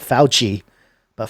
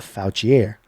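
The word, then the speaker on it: Fouchier: I mean it's it's spelled fo uch I er so not foutch e a foul chiere when Ron am foul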